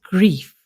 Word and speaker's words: Greef: I always wanted to change my surname because Greef is pronounced as grief.